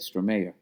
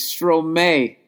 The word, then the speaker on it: Stromae: That's how you say it? Stromae. No. My God, I'm an idiot. Oh, my God, I'm a fucking idiot. It's Stromae, and then it was dash, you're welcome.